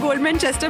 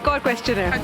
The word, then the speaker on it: Godmanchester: Okay, guys, now that we're in Goldmanchester... -It's Godmanchester! -What? -Sorry. -Do it again! You mispronounced it so confidently!